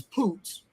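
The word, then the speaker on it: פוץ: And and that word in Hebrew is poots.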